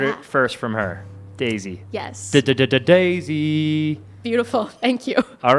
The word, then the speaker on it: Dasie: Okay, you can, it's Dasie, but it's not spelled like the flower.